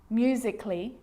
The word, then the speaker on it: musically: the letter A now the letter A can be silent especially in words that end in a ll Y like these romantically musically logically so I'm not pronouncing romantically musically and logically cut the a out get rid of it